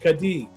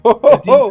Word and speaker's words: Kadee: Well, you know I I mispronounced KD for for years. When I first you know got KD couplers, I was calling them Kadij. Kadij? Kadee couplers. Yeah.